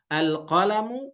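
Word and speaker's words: القلمُ: Bacanya berarti nggak al-qalamun gitu. Nggak bisa. Jadi al-qalamu.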